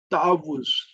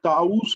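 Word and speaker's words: تعوذ: यहाँ पे ताउज़, ये ताउस नहीं है, ये और कोई चीज नहीं है, इसकी प्रोनाउंसिएशन भी हमें सही होनी चाहिए। ताउज़, ताउज़।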